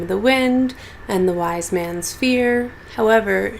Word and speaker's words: Wise Man's: the Wind and the Wise Man's Fear. However, she pronounces Wise Man's Weissman's. Oh, like a Weissman. Like if she was saying the word fisherman or policeman.